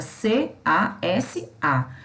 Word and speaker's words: casa: Tanto que quando a gente pronuncia a palavra casa, o S, ele sai com som de Z, porque o fonema é o Z, tá?